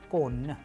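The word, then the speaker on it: конь: Soft sign, it doesn't have its sound, it softens the preceding consonants.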